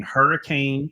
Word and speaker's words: Hurricane: going to be in Hurricane West Virginia we call it hurricane it's spelled h-e-r-r-k-e-n it's just like the storm Hurricane West Virginia August